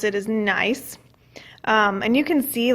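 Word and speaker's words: gneiss: first one this is nice I the G is silent here is how you pronounce it is nice and you can see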